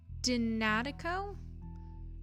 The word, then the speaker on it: DNA Teco: Pronounce Dinatico.